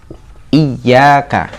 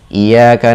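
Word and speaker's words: إِيَّاكَ: Jika ditulis dalam huruf Latin, huruf 'y ' menjadi huruf ganda. Ya, "iy-yaka " seperti itu. "Iyyaka", digandakan. Sekarang, arti dari "iyyaka" adalah "hanya kepada-Mu , ya Allah". Itulah mengapa hal itu terhubung dengan "na'budu". "Hanya kepada-Mu, ya Allah, aku beribadah." Namun jika kata "iyyaka" kehilangan tashdidnya, menjadi "iyaka na'budu", tashdid tersebut hilang dan dibuang, maka artinya adalah " sinar matahari."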